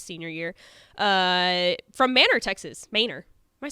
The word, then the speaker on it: Manor: Manor.